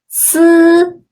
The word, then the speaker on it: 思: The last one is 思. It sounds like letter S in the word sits. 思.